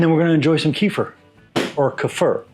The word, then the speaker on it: kefir: And like I said, and if you want to know how to pronounce it correctly, it's kefir. Okay, and 48 hours later, we're done. That's it. So the kefir, as it's pronounced, or kefir if you want to call it that, is done.